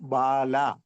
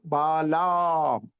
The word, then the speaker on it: Balaam: അപ്പോൾ ബാലാം, ഉച്ചാരണം എങ്ങനെയാണ്? ബലാം അല്ലെങ്കിൽ ബാലാം, രണ്ട് രീതിയിൽ ഉച്ചരിക്കാം. അപ്പൊ ആ നീട്ടി പറയണം. രണ്ട് A ഉണ്ട്, BALAAM. ബാലായ്ക്കകത്ത് ഒരു A ഉണ്ട്, പിന്നെ ആം.